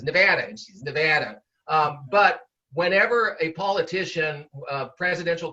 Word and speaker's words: Nevada: in elections here you referred several times to nevada it's very important for politicians to say nevada uh and and so the pronunciation here as a matter of fact i